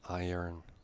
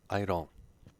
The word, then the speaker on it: iron: same as kakoke said the next one iron pronunciation is always iron and never idle so doesn't matter what